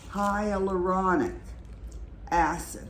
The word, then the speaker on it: hyaluronic acid: So it is pronounced hyaluronic acid.